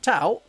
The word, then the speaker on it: Tau: Because it's T-ow. It's always been said by a Yorkshire person. Tau.